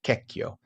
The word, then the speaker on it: Checchio: And then the man you see on the screen there, who is Bishop Cecchio, Checchio. In Italian, you pronounce it Cecchio.